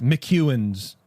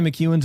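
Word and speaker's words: McEwan's: It's like it's class McEwen's. How do you spell it?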